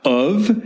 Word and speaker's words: oeuvre: Oeuvre has 2 syllables. It's oeuvre.